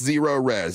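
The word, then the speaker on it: Zerorez: And that's Zero Res. It's spelled like this.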